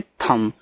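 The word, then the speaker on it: thumb: यहां देखो बी आपका silent. T एच यू एम बी इसको पढ़ते हैं थंब। थंब नहीं थंब।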